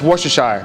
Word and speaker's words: Worcestershire: I say Shire, Worcestershire. Some people say Worcestershire.